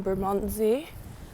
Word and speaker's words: Bermondsey: I'm now in Bermondsey.